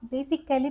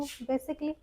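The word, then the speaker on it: basically: ए हमारा साइलेंट होता है। जब डबल बाय आता है। तो इससे पहले अगर हमारा ए आता है तो ए साइलेंट होता है। एग्जांपल बेसिकली अब आप बेसिक कैली तो नहीं बोलते हो।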